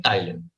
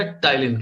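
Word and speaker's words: ptyalin: Salivary amylase को हम कहते हैं टाइलिन, ठीक है। पी साइलेंट रहेगा, टाइलिन कहते हैं।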